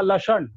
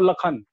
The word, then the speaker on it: लक्षण: है लखन आप देखेंगे लिखा रहेगा लक्षण अब बोलते हैं इसको लखन तो अंशमात्र हिंदी में